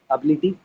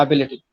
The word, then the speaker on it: ability: Have you guys ever come across this word, ability? Yeah, ability.